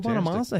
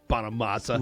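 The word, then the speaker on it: Bonamassa: Bonamasa. You know what I love about Bonamasa's name? It's phonetically spelled, too. Like, it's really easy.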